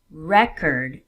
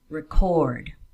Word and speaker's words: record: For example, project and project, record and record, present and present. Do you notice a difference? Usually, not always, in 2-syllable words, nouns will carry the stress on the first syllable, while verbs on the second.